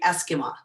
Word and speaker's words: Esquimaux: want to do is say my name properly for you so you know what it is it's eskimo oh thank you it is it's not a french word it's actually indigenous uh it's probably it